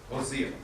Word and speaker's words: Hosea: Hosea.